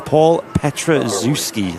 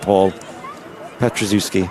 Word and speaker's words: Petraszewski: We actually put the pronunciation. Paul Petraszewski. There you go. I'll remember that, Paul Petraszewski.